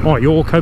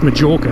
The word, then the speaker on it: Majorca: Depending on where you're from, some pronounce it Mallorca, but it's Majorca here.